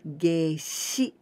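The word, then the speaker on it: 夏至: And be careful, here we pronounce with ji, toji. But geishi, here, the same kanji, but here we pronounce with shi. Geishi, toji.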